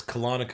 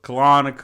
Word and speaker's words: Colonico: it every time yeah I know it sounds like a serial it's colonic Oh colonic oh yeah nice no